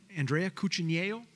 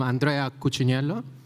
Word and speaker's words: Andrea Cucciniello: As Grant, like, pronounced it perfectly, I'm Andrea Cucciniello.